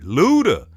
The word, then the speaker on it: Luda: brother Luda it's like you got to say his name like that Luda and I spoke on